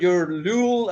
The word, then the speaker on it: Lüül: It's I know it's unusual because it's a U with the 2 points, and it's Lüül.